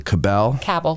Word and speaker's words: Cabell: It was a Cabell. Cabell. Everybody pronounces that word differently. Well, that's the Virginia way. Some people up here call it Cabell, Cabell.